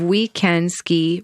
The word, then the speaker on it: OuiCanSki: she's the founder of we can ski program we is spelled like oui like yes we can ski an organization that introduces